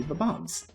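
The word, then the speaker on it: Bob-omb: I also used to call these guys bomb bomb bombs or bomb OMS and it sounded really weird to me I never knew that they were actually B bombs or that's like the official pronunciation if I recall correctly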